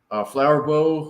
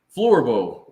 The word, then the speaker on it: Floorbow: We've got Flowerbow, who has been a guest with us before. He needs to pronounce his name for us because I said it wrong. Okay, well, let's Floorbow. Oh, Floorbow.